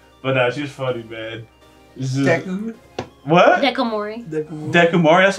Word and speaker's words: Dekomori: Dekomori. That's how you say her name? Dekomori.